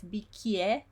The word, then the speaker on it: bicchiere: is chi, and then we have a double C because chi is in the middle of a word, and then you have the I and the E together, like in cameriere, and so you pronounce those one, yeah, so it's bicchiere. So you need to remember to pronounce the CHI, which is chi, and then the I and the E together, bicchiere, cameriere, cucchiaio.